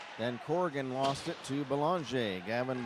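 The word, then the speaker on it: Belanger: a n g r but has the French pronunciation here's Logan Wells for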